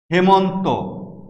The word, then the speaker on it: হেমন্ত: কোনো কোনো ক্ষেত্রে এর ব্যতিক্রমও রয়েছে, যেমন মেধা, হেমন্ত। আমাদের সূত্র ছিল একারের পরে আ অথবা অ থাকবে না, যেখানে থাকবে না সেখানে এ উচ্চারিত হবে। কিন্তু দেখো এখানে আ আছে, এখানে অ আছে, দুটোই আছে, কিন্তু এই দুটি শব্দের উচ্চারণই আমরা করি একার দিয়ে, এ সংবৃত উচ্চারণ হবে। মেধা, হেমন্ত, আমরা এখানে কোথাও মেধা বা হেমন্ত উচ্চারণ করছি না, এগুলো হচ্ছে এর ব্যতিক্রম। পরের সূত্রটি দেখো, কোনো একটি